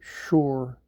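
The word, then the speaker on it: שׁוֹר: H 7794 the word Shen VAV rash pronounced Shore and of course there's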